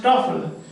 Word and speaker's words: TOEFL: It is pronounced Toefl, and that is also